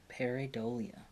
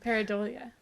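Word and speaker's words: pareidolia: up pronunc pronunciation yeah peridolia not paranoia that's different paradolia I I have that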